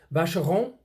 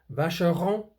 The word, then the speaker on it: Vacheron: Vacheron. You don't say the N at the end of Vacheron, and you don't say the N at the end of the Constantin. Constantin, Vacheron, Constantin.